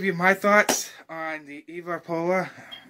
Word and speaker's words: EvaPolar: my thoughts on the EvaPolar. A lot of people say that wrong, but it's okay. I mean, some people, you know, it's kind of tongue twister, but it's EvaPolar.